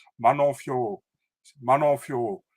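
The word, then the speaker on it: Fiorot: She's like Manon Fioro, Manon Fioro. She said it in French, you know. And they're like, oh, she said Fio. No, she said Fioro, but she's like she's French, so she has a French accent.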